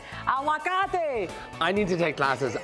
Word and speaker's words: aguacate: Aguacate.